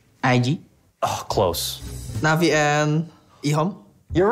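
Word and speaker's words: EHOME: Rhymes with flea bone. Navi and IG. Oh, close. Navi and Ihom.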